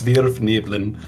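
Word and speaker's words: svirfneblin: It's supposed to be a Germanic pronunciation, so it's Svirfniblin.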